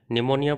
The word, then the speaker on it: निमोनिया: निमोनिया pronunciation में आपका P silent रहेगा, तो ये होता है आपका न्यूमोकोकल निमोनिया नामक बैक्टीरिया से।